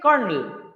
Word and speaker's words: colonel: There is no R. But we pronunciate kernel.